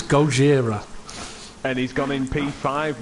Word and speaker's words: Gojira: You know the correct pronunciation for Gojira. It's not Godzilla, it's Gojira.